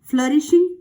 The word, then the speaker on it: flourishing: Flourishing, यहाँ आप देखिए O और U दो वॉल्स हैं, ये दो वॉल मिलकर के अ साउंड मेक कर रहे हैं, तो इसको फ्लरिशिंग हम प्रोनाउंस करेंगे। सो his business was फ्लरिशिंग डे बाय डे।